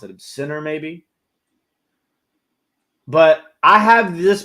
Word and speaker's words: Ciner: It's pronounced Sinner, okay.